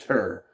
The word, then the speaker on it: Tyr: I know some people do, but I looked it up, and apparently it's pronounced Tyr. and it's just spelled T-Y-R with like Nordic letters or whatever kind of alphabet letter system they use.